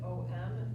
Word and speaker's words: Om: So when we chant M, we will start with a big a wide open mouth at the back of the throat.